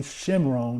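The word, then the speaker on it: Shomron: from shimron or Samaria Samaria is actually shimron that's how you say it in an ancient tongue came and dwelt in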